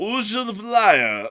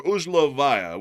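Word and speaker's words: Узловая: of the town of Uh, Uzh lyaya, or Uzlovaya, which is the correct pronunciation, there were strikes within the area over the the of the day.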